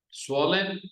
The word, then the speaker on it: swollen: No se pronuncia la W. Es muda la W.